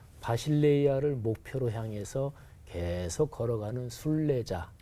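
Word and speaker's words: βασιλεία: 헬라어로 발음해 보면 바실레이아 이렇게 발음해요. 그리고 교회는 에클레시아.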